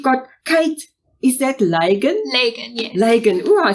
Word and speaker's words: Lagan: Lagan, yes.